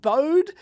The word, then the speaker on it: Bode: pronunciation of bode um that's how it's commonly pronounced here in Australia not in bode not bode not bode a I know that's how the guide pronounced his name but that's not how it's commonly pronounced here in Australia so just deal with it alright that's how